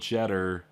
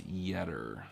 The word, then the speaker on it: Yetter: I get to the booth, and Andy and Elizabeth Yetter are there, and you would think it's spelled Jetter, Jetter. It's Yetter, silent J.